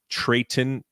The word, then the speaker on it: Treyton: Obviously, that's, but his name is Trayton Thompson. It's spelled Treyton.